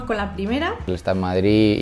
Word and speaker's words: Madrid: madrid pues es madrid madrid claramente con ausencia de sonido después no hay ninguna de y es una ciudad